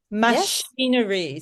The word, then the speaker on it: machinery: mach mach machinery machinery. So the the ch is pronounced sh it's one of those silly silly English ones where it's not pronounced as chron machine and machinery.